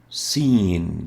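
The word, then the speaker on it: سين: as well is and we call it scene as in scene seen is pronounced s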